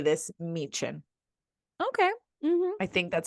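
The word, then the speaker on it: Myken: all the times but they are pronounced like CH so I think I say this mein okay I think that's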